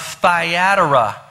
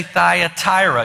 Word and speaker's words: Thyatira: But the good thing we're going to find out about this church, and this is the church of Thyatira. Some people say Thyatira. You can pronounce it any way you want to.